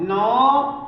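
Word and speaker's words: know: के कालन नहीं तो हम के का उच्चारण नहीं पढ़ते बस के को क्या बोलते हैं के को लिखते नहीं बहुत से बच्चे से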